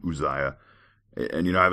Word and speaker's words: Uzziah: conversation about uh pronunciation I get Uzziah uzzz I a so I'm I'm calling him Uzziah and you know I